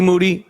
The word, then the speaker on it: Moody: a.k.a. Moody, rhymes with duty, was the 2015 podcast co-host of the year.